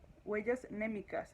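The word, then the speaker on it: mnémicas: Huellas némicas. Así se escribe, M-N-E, micas.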